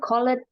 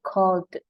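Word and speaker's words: called: ya Nih kita melihatnya coled kan jadi yang baca coled Salah ini akhiran dari kata ini adalah l nah call Le Le jadi bacanya cold cold c bukan Col ya kemudian clean clean ini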